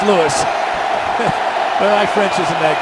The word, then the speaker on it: Louis: Or actually, pronounced Lewis.